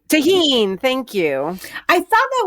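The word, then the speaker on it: Tajín: Tahini? Tahine.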